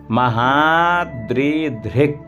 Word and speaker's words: महाद्रिधृक्: अब यहाँ रक्षत्वीशो, यहाँ रक्षत्वीशो महाद्रिधृक्, महाद्रिधृक्, ध्यान दे, रक्षत्वीशो महाद्रिधृक् का हलंत है तो आ नहीं आना चाहिए।